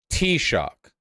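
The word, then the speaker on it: Taoiseach: how to pronounce this t-shock really t-shock that's how that's pronounced okay why even write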